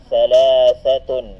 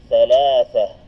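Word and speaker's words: ثلاثة: Dito, thalathatun. Kung hindi natin bibigkasin, thalatha. Kung hindi natin bibigkasin ang patinig sa dulo, thalatha. Dito, arba'atun. Kapag hindi natin bibigkasin ang patinig sa dulo ng ta'ul marbuta, arba'ah. Naam. Magiging ha ang kanyang tunog sa dulo.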